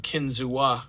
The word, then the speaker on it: Kinzua: We went into town, got ice, and then we went to the Kinzu Bridge. It's spelled Kinzua Bridge, but it's pronounced Kinzu.